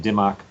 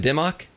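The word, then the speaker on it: Dimock: How do you pronounce that? Dimmock? Yeah, that's what I understand. That's what a guy from the Sierra Club who was in one of my classes, that's the way he pronounced it. And he had worked over there, so I'm going with that pronunciation.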